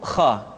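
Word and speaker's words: خ: hanha selanjutnya adalah huruf Kha Kha dikeluarkan dari pangkal tenggorokan Kha pangkal tenggorokan diucapkan dengan mengalir nafas atau lebih praktisnya pengucapan huruf k persis terdengar seperti orang yang tidur dalam keadaan mengorok Kha khi khu bakh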